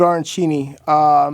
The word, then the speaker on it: arancini: I've never had how do you say arancini?